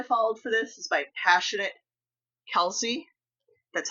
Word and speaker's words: Passionate Kelsey: The tutorial I followed for this is by Passionate Kelsey.